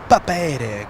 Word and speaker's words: Papeete: Papeete, going to Papeete. You know, I never knew how to pronounce that until you came in.